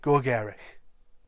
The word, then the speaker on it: gogerych: But I would say Gogerych.